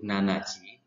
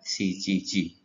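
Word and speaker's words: 七時: Kemudian yang 7, ini mereka orang Jepang tidak mengucapkan jam 7 itu nanaji, tetapi lebih umumnya menggunakan shichiji.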